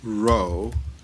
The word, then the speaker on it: Rowe: Rowe silent w WRO Gaffin e G a F F a n ey thank you sir okay dr.